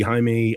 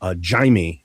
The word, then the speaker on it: Jaime: Spanish would be Jaime, and I guess he was Portuguese. So Jaime, I've been told, is the correct pronunciation for Portuguese. Jay, Abby. So yeah, I would. Yeah, Jaime.